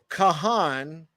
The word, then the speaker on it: Cahan: uh I was born Kahan is the old pronunciation and it's the